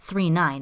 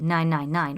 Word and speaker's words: 999: Matsumoto's, Galaxy Express 39, pronounced 39 as opposed to 999 or 9.